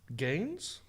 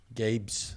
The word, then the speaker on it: Gabe's: Is he saying Gabe's or Gaines? Games. Spell it. Gabes. Gabe's. See, Gabe's. But It's a he's retail saying Gaines, but I heard Gaines, but it's Gabe's.